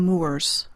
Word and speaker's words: Moors: the washita moors pronounced like more refers to mu or